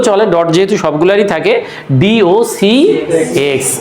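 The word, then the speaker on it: docx: ডট যেহেতু সবগুলারই থাকে ডি ওি এক্স অনেকে এটাকে একবারে ডগ বলে। তবে পয়েন্টের পরের গুলো একসাথে উচ্চারণ করার নিয়ম নাই। এগুলো আলাদা আলাদা করে উচ্চারণ করতে হয়।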